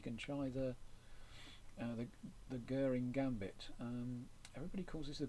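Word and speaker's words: Göring: commander in the war Herman Guring. It rhymes with stirring and not boring. It's not a goring gambit. It's a guring gambit I think. So guring gambit and if black declines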